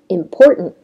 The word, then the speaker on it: important: Prevent, wasn't, don't, hasn't, and the 5th word is important.